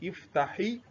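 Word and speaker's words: افتح: So I said iftahi al baba. But if I want to pronounce it ordinarily, I'm going to pronounce it with what? With sukun. Iftah.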